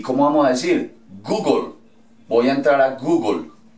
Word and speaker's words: Google: Dicen Google, Google, ¿cierto? La E al final no suena.